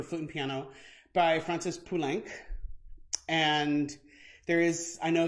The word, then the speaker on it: Poulenc: it on good authority it's actually pulank as in sanc the number five and so francis punic